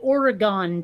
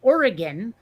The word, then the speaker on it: Oregon: uh they pronounce it oregon yeah and i i and i can make an argument for either pronunciation you know like like dragon versus polygon you know those all